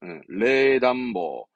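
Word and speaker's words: 冷暖房: 발음은 레담보, 레담보로 하기도 하겠죠.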